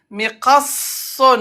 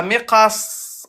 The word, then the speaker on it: مقص: Miqasson, on appuie. Il y a sad avec shadda. Comme quelqu'un m'avait dit une couronne, la couronne sur la lettre. Donc on appuie. Miqasson. مقص. Et à l'arrêt, comment on va le prononcer? مقص. Voilà. Miqas. On met soukoun.